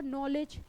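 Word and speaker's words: knowledge: जैसे आपने देखा होगा नॉलेज अब नॉलेज में क्या है के जो है साइलेंट है ठीक है ठीक है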